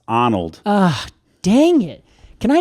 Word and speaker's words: Arnold: Although you did mispronounce, Casey. What did I say? Arnold Arboretum. It's Arnold.